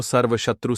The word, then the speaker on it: सर्वशत्रु: इसका उच्चारण इस तरह से है। नमो सर्वशत्रु सहारणाय भट्ट स्वाहा।